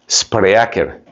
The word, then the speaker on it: Spreaker: Se escribe Spreaker. Spreaker.